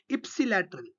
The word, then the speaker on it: ipsilateral: use the term intermediate ipsilateral see the pronunciation i i i p s i ipsilateral on the same side